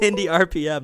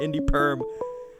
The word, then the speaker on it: Indy RPM: It's Indy RPM, not Indy Perm.